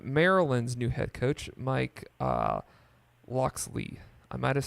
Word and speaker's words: Locksley: quick opinion on Maryland's new head coach Mike Locksley I might've said that last name wrong no you're good yeah Mike Locksley I it's about to say everything Maryland has